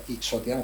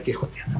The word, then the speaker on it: quixotiana: Quixotiana se escribe, pero que la gente es que lo pronuncia Quixotiana, pero es la X se pronuncia como J, como le pasa a México con México, vamos. O sea, que es quijotiana.